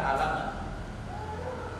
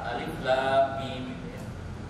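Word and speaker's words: الم: Kan bacanya tidak dibaca alama. Bacanya apa? Alif lam mim.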